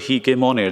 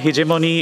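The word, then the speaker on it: hegemony: নেতা এই যে হিগেমন হিজেমনি ইত্যাদির ব্যাপারে বলে রাখা ভালো ইংলিশে হিজেমনির পাঁচ চার রকমের উচ্চারণ হয় হিজেমনি হেজেমনি হিগেমনি হেগেমনি তো হিজেমনি প্রচলিত তাই ওটি উচ্চারণ করছি হিজেমনি যে দুটো সংজ্ঞা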